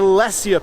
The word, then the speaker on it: Lesya: And but one has just really stood out this year, and that is the Lesya pepper. It's spelled L-E-S-Y-A.